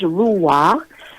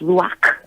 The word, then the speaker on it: Ruach: so the super wha I just pronounced rule walk in the Western on pronunciation and then Hebrew it's rock I'm gonna do I'm